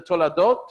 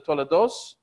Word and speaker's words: Toladot: So when we get to the Toladot or the Tolados in Ashkenazic pronunciation, this is the generations.